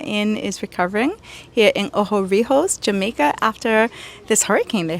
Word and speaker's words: Ocho Rios: out how the inn is recovering here in Oho Rehos, Jamaica after this hurricane they had two months ago. I love that pronunciation. Oh, Rios and in fact it's eight rivers.